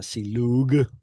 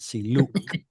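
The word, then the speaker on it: סִלּוּק: means to, oh, that's not silug. I meant siluk.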